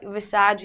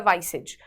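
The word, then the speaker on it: visage: पहले है विसाज या वाइसेज, दोनों ठीक है प्रोनाउंसिएशन।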